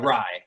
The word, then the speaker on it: Rye: guys had the the raw thing am i pronouncing it right raw with right it's uh rye right okay like the bread the bread so you